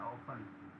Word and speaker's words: often: ये ऑफन है ना, इस पर टी साइलेंट होता है, ध्यान रखना। इसको हाँ पढ़ते सर। हैं ऑफन, ऑफन पढ़ते हैं इसको। ऑफन okay. मतलब प्रायः, नॉर्मली, ठीक है। हाँ सर। ऑफ्टन मत पढ़ना, ऑफन, ऑफन होता है ये।